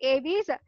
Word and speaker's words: aves: இது apes கிடையாது, aves, and this is called apes. இதை நம்ம pronounce பண்றது apes தான் pronounce பண்ணும், but this is pronounced, it should be pronounced as a aves.